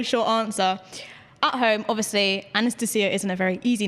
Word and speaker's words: Anastacia: Um, it's just like Anastasia is the way I say it, but then like obviously if I said it in Russian, it' be Anastasia, you know? Then there's the American version which is Anastasia. So, it's all the same name. It's just different pronunciations.